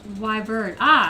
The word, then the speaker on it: Wyvern: It's pronounced Wyvern.